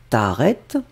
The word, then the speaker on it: t'arrêtes: T'arrêtes, et vous finalisez avec la deuxième partie de la négation, pas. Hein, donc, tu ne t'arrêtes pas de manger. Alors, on ne prononce pas le S, mais c'est un verbe du premier groupe.